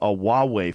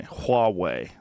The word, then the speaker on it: Huawei: They have a Huawei phone. I'm saying it wrong. Apparently, people correct me. Huawei.